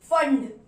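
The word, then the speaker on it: Pfund: और अगला वहां पर क्या मिलेगा, अगला रीजन अगर आप देखोगे तो आपको यहाँ मिलेगा फंड, P साइलेंट होता है, P फंड, P साइलेंट होता है इस नाम पे।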